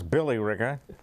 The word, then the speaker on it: Billerica: a located in Westford Billerica which some people pronounce Billy Ricker and over Stoneham Reuben